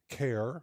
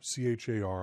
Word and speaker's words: char: the integer types include care CH a r i pronounce it care different some people say Char int short int long